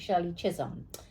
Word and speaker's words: Shirley Chisholm: Okay, she helped me say it right, Shirley Chisholm.